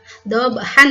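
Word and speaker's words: ضبحا: Dengan panjang 2 harokat, hanya 2 harokat, nggak usah dipanjang-panjangkan lagi karena memang syaratnya hanya 2 harokat. Dhabha, udah 2 harokat. Jangan dhabha, itu salah gitu karena tidak sesuai dengan kaidah ilmu tajwid.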